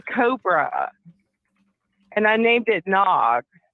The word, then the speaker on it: Nag: and I named it Nog. Like in Ricky Tikki Tavi, like the Cobra's name is N-A-G, Nag. It's kind of funny, like Nag's head, but it's pronounced Nog.